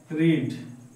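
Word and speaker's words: read: হয়ে গেছে এইমাত্র হয়েছে আই হ্যা আই হ্যা রিড আমি পড়েছিলাম আগে বা কালকে আই রেড দেখো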